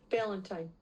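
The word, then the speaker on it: Ballentine: second stream cornerback but he's out uh Corey blaten I think is how you pronounce his last name he he will be missing tonight's game Valentine Balentine Balentine really okay so he he's going to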